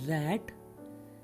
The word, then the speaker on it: rate: पहले वाले में था RAT रैट, लेकिन इसके बाद अगर ई लग गया RATE रेट।